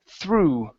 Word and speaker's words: through: word through okay so the GH at the end of the wordes does not make a sound so instead of through okay there's no sound it's only o through through okay there you